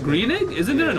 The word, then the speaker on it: Groening: I think it's can't Greening. pronounce- Greening?